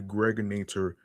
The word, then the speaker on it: Gregorator: This is your man and homie aka the Gregorator rhymes with now or later.